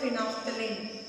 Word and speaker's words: phenolphthalein: Look into the spelling of phenolphthalein. PH is silent.